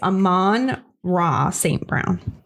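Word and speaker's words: Amon-Ra St. Brown: that I said it right Saint Brown It's Amman raw Saint Brown yeah all right so I like Detroit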